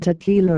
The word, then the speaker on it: TQILA: Insurrection and Liberation Army, TQILA, pronounced Tequila, is a new unit